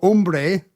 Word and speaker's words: hombre: Dado, Elsa, Fiesta, Gato, Hombre. H as in silent H in hombre.